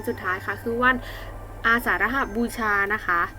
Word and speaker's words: อาสาฬหบูชา: ท้าย คะ คือ ว่าน อาสาฬหบูชา นะ คะ อ่าน ว่า อาสาฬหบูชา ตรง กับ วัน ที่